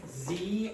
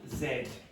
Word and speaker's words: Z: How do you pronounce that? What's that letter? Z or in Ireland it's what? Zed not zeta.